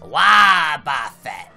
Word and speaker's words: Wobbuffet: Wait, how is it pronounced? Wobbuffet.